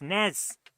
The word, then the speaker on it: NES: You've always called it an NES. Oh, it's NEZ. Nez. That's how we pronounce it.